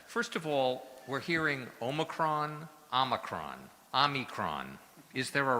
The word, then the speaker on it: omicron: that could explain it there's actually three ways to to pronounce it and it's very interesting one is the the american way which is omicron one is the um international omicron and then there's a third uh the british and i didn't quite get